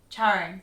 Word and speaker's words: Charing Cross: It's not Charing Cross. Oh, I didn't say Charing. Yeah, Cross. if it was Charing Cross, it'd just... have 2 R's, like something is charred on the fire.